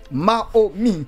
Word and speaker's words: Maomy: J'ai bien prononcé Mahomi.